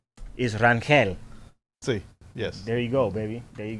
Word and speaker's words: Rangel: doing good man hey so so the proper pronunciation is ranquel let's see yes there you go baby there